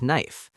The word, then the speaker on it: knife: The word knife sounds like knife.